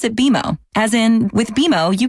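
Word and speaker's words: BMO: more common than you think but we actually pronounce it bimo as in with bimo you can earn a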